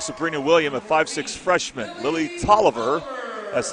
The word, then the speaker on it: Tolliver: Lily Tolliver, that's how you pronounce her name, is a 5'3 freshman, the third starter.